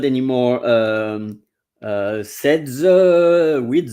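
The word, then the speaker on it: sept: so same with v the uh the g is silent same with uh the number I was talking about set which is seven set event the p and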